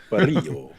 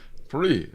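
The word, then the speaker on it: Parrillo: I'd rather roll my L's and my R's. Yeah. But Parillo. Parillo.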